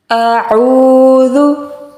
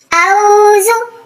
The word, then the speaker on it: أعوذ: So we will pronounce it as a'udhu. A'udhu. And secondly, the letter dal is soft, not hard, right?